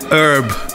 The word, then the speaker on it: herb: This one 100% herb, or should I say herb? Herb. The H is silent.